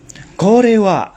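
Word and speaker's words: これは: bisa dilihat di sini korewa nandeska Korea nand desuka ya ini dibacanya Kore Wa ini adalah kanjian nan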